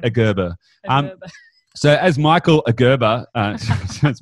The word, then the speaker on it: Gerber: Correct pronunciation. Gerber.